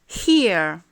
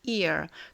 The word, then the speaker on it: hear: Hear. Hear. Vous voyez, si on ne prononce pas le H, ça fait ear.